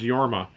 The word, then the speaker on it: Jorma: I heard him say it as Jorma. So I know that's right.